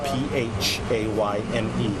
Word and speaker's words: Phayme: His name Kevin, last name is spelled P-H-A-Y-M-E, pronounced Phayme.